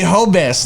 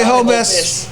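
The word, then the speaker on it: Jobs: H Robbie what Robie hobz like j o b s but you pronounce the J as H but Robbie hobz from hery so the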